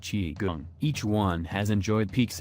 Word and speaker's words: Qigong: Three of the most popular fitness trends to land in the West since the 1960s are yoga, Tai Chi, and Qigong, pronounced Qigong.